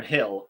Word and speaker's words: Gil: present creativity i think brian gilders yeah definitely or brian hill as it's pronounced um i think that